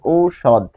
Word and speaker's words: ঔষধ: তারপর মূর্ধন্য ষ থাকলে মূর্ধন্য ষের উচ্চারণ সবসময় তালব্য ষ এর মতো হয়। আর ধ, এখানে বানানে অ আছে, কিন্তু এখানে অবিলোপ হয়ে উচ্চারণ হবে ঔষধ।